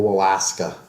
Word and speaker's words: Walaska: Let's start off by talking about your campaign and specifically your opponent, Bill Walaska. I always like to say it rhymes with asshole, but can I say that on the podcast?